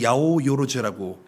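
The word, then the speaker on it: 八百万: 800만이라고 한자어로 쓰고 그걸 야오요로즈라고 읽습니다.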